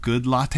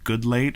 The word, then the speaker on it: Goodlatte: anything other than Bob Goodlatte a although his name is probably good late or something but it's spelled good latte and that's how I'm saying it um and this